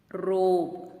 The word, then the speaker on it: robe: example it is rogue robe when i say the beginning sound that we listen is er the next sound that we listen is and letter e remains silent dear parents these basic